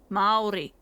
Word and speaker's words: Māori: It's got a macron on the A, so it's Māori. Nice. Ao, and then the R is a rolled R. Ri. Māori.